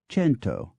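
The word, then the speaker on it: cento: take one example the the Latin Kum 100 began to be pronounced in various ways a fact reflected in the modern French c n t s Spanish c i n t o fento and Italian c n t o chento by such means did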